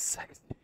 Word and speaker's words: CeX: Wouldn't it be pronounced CEX? It wouldn't be pronounced sex, right? That's just fucking strange. Surely it's not fucking pronounced. No, it's sex.